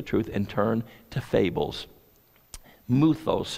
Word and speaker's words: mythos: and turn to fables muthos is the greek word it's spelled mythos and it's where we get our English word myths remember Daniel shared this